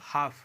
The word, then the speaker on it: half: फिर अगला देखें इसमें कि HALF लिखा हुआ है, तो F के पहले एल लिखा हुआ है, F के पहले, तो ये भी साइलेंट होगा। HALF, इसका मतलब हाफ, हाफ का मतलब आधा।